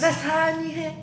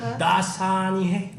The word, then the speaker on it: Dasani: Das Hani. That's Like perfect. crap. Like you go for the first syllable like a little bit long, like dasani, like that.